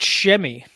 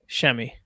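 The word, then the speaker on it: Semi: __ ] I used that's how you say it like there's an H in there it's a it's a loud eh instead of a silent H like steve buscemi Oh Joely yes schemey like you got a Hemi but it's gotten SH it's got an ass at the front of it bucket ninja has joined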